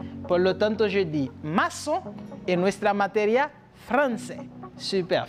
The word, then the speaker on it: maçon: Por lo tanto, se pronuncia como si fuera una S. Por lo tanto, je dis maçon en nuestra materia français.